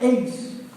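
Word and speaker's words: εἰς: Y para fe, y esa palabra para es eis, que se pronuncia eis.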